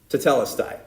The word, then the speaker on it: Tetelestai: Tetelestai.